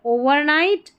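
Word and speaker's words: overnight: टी नाइट यहां पर जी H silent ओवरनाइट every tree great tree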